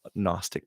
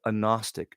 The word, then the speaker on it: Gnostic: And why do they have to pronounce it with an N when it starts with a G? It's Gnostic or just take out the G. Well, the G has to be silent.